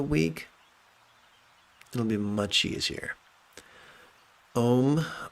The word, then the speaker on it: Om: Om rhymes with home.